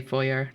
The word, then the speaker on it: foyer: I say foyer, like soy. I mean, I say the foy part the same. I just say, like, foyer. Because, like, it's French, right?